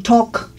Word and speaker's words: talk: No pronuncias la L. Es como walk, el que pusimos hace rato, caminar. Este es to talk, hablar. To talk, hablar. También platicar. To talk, entonces, este que es hablar y se pronuncia talk.